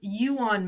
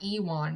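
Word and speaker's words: Ewan: yeah yes also like colin says it's you on mcgregor not ewon mcgregor as koreans pronounce it that it's i've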